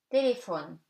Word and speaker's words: téléphone: PH gives you F, téléphone, easy.